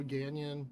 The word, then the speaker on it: Ganyan: You know, Ganyan rhymes with canyon.